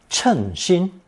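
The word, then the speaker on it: 称心: Now we come to the second pronunciation, often found in the expression 称心, meaning that you've found something to be quite satisfactory, just what you were wishing for.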